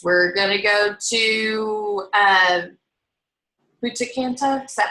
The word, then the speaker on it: Punta Cana: We're going to go to Punta Cana. Is that how you say it, Twyla? Yeah. Punta Cana.